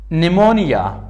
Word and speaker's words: pneumonia: And it is not pronounced before S and N. قبل از S و N تلفظ نمیشه. Example, مثال. Psychology, روانشناسی. It is not P psychology, it is psychology. Pneumonia, pneumonia. سینه و بغل. It is not pneumonia. It is pneumonia.